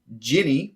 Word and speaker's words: Djinn: Okay, let's go into our genie breakdowns then. I will go first. I will touch on the Djinn first. So Djinn, pronounced either Ginny or Genie.